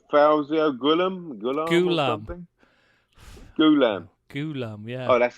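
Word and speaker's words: Ghoulam: ghulam you laughing Ghulam Ghulam yeah oh that's how I was poor that's how his parents pronounce it clearly they say we don't pronounce it gooo Liam whoever you said I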